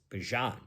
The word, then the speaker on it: Bijan: Is it Bijan? Right? It's Bijan, I think. Right? Bijan. It's Bijan. We've been saying it wrong for a long time.